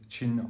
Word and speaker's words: Qin: is the ovidius rx100 chin armor i think it's june because you pronounce a q with a c8 sound anyway a chi-fi hybrid